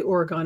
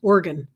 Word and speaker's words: Oregon: to Portland Oregon actually you can't say Oregon it's organ organ that's the way they pronounce it out there sort of like a kidney like an organ at least I think that's the way they are pronouncing it but it was interesting